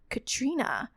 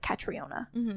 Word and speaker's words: Catriona: it I would always I would always say like katriona and then I was like oh wait it's Katrina it's like all the